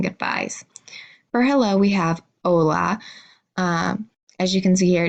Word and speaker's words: hola: for hello we have hola as you can see here it does start with an H and H is not a letter we pronounce in Spanish so you're just gonna say hola or goodbye we have